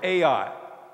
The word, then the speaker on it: Ai: The next opponent on their schedule was the little junior college town of Ai. It's spelled A-I.